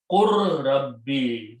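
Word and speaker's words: قل رب: Okay, in Tajweed, when Ra and Lam come together, then we do not pronounce Lam, you pronounce Ra 2 times.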